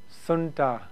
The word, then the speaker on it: junta: For short, I'll call it a k-junta, pronounced sunta.